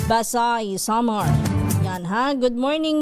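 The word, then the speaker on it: Basey: Ang ah pronunciation pala nila doon ay Basay. Hindi Basi Basay Summer.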